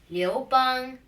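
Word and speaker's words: 刘邦: Liu Bang will be pronounced in Chinese like Liu Bang, and in Xiang Wu, it's the saying would be like this.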